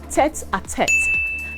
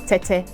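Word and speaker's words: tête-à-tête: conversation between two people is called tet attacked not tete this expression is also borrowed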